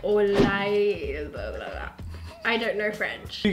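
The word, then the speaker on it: au lait: Strawberry, how do you pronounce that? It's like French, like Au-Lait.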